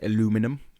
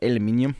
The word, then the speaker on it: aluminium: But I was thinking about, you know how Americans say aluminum? Yeah, aluminum. And we're just like aluminium? Aluminium. Because we're lazy. We don't like to pronunciate. I want to see how that's spelt because maybe they're saying it wrong. Aluminium. Aluminum. But then when it comes to we say it right.